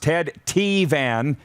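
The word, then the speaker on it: Ted Tevan: he was huge on montreal sports radio it's pronounced ted t van he used to have a slogan when he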